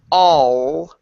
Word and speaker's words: all: In English, our tongue goes all the way to the front. Okay? And so this allows us to say all and it creates a nice round vowel sound in the mouth. Okay? So we say all. Okay? Way up here instead of all. All is back here. And that traps that vowel in this little tiny space.